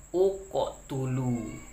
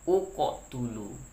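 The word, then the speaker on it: اقتلوا: Bila huruf ketiganya itu barisnya dhammah, maka berilah alif ini dhammah. Maka cara bacanya adalah uqotulu. Begitu ya, uqotulu.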